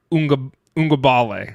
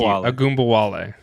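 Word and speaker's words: Ogunbowale: My stud of the week is Dare Ungabale. I butchered that guy's name. I butchered it. Agumbawale. Thank you, Agumbawale.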